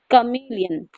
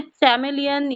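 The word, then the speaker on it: chameleon: तो बच्चों इसका जो करेक्ट प्रोनाउंसिएशन है, चैमेलियन या फिर चमेलियन या कैमिलियन नहीं है, कमीलियन, कमीलियन, कमीलियन, कमीलियन। Okay, तो कोई भी प्रोनाउंसिएशन ले लीजिए, इंडियन ले लीजिए, ब्रिटिश ले लीजिए, अमेरिकन ले लीजिए, सब में इसका प्रोनाउंसिएशन कमीलियन ही है।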